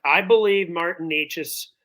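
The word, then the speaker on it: Nečas: correct I believe Martin NES I was call him Nikas all week but I I realized I was saying his name wrong I say a lot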